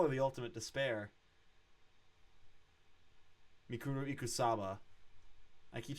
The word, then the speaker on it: Mukuro Ikusaba: witnessed the stabbing and then fucking explosion of Mikuru Ikusabe, the 16th student who was until recently lying hidden somewhere in the school. They call her the ultimate despair. Mikuru Ikusaba.